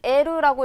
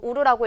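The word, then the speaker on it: 得る: 이 사전형의 형태는 에르라고 읽을 수도 있고 우르라고 읽을 수도 있지만 이 형의 형태는 에나 이만 가능합니다. 우로 읽을 수는 없어요.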